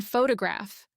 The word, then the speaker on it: photograph: In photograph, the stressed syllable has a clear O sound, but in photography, that same vowel becomes schwa because it's no longer stressed.